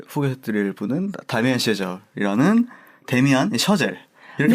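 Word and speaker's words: Chazelle: 오늘의 소개해드릴 분은 다미안 셔젤이라는 데미안 셔젤 이렇게 네.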